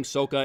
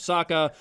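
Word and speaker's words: Sokka: ong instead of aang soka instead of saka because shyamalan wanted to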